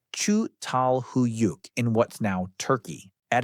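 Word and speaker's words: Çatalhöyük: One of the best studied early settlements anywhere is Chhattal Hoyuk, pronounced Chu Tal Huyuk in what's now Turkey.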